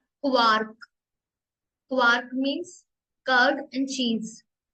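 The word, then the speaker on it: Quark: break break next है क नॉट क्यू क क्वार्क क्वार्क mean curd and चीज आर को प्रोनाउंस करेंगे एर एर एर ठीक है राउम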